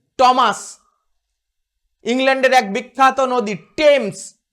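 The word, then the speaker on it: Thames: আবার নাম বলতে গিয়ে ট সাউন্ডও নিয়ে আসে টিএইচ, টমাস, ইংল্যান্ডের এক বিখ্যাত নদী টেমস।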